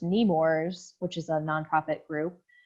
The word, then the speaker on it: Nemours: So this first one is, I think it's pronounced Nemours, which is a nonprofit group.